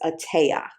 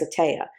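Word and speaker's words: Etteilla: It's e t e i l l a. It's French. I believe it's a tea.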